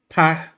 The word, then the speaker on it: Paquetá: Frank's saying on Portuguese, Paquetá is pronounced Paqueta. The accent on its last letter makes it ta instead of ta.